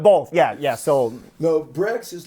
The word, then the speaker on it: Breggz: no but but both yeah yeah so no brex is like is like the uh uh um